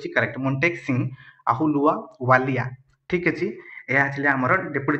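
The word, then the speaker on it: Ahluwalia: ठीक अच्छे, आप देखीदे प्रोनाउंसिएशन। ठीक अच्छे, से ऑप्शन नंबर बी हूँ करेक्ट, मोंटेक सिंह अहुलुआ वालिया।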